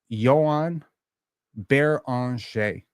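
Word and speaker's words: Joan Beringer: Let's see how it's actually pronounced. It's Joan Beranger.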